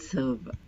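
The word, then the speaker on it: servent: servez, il serve, elle serve. And you pronounce the M here and V here. Il dorme, elle dorme, il serve, elle serve. Please note ENT always remains silent.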